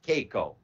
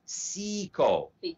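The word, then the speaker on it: caeco: e c o no it's not pronounced as caico it is actually pronounced as siko the pronunciation for this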